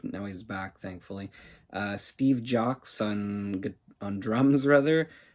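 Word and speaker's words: Jocz: Steve Jocks on drums, rather. I think maybe it's just Jock. The Z is silent.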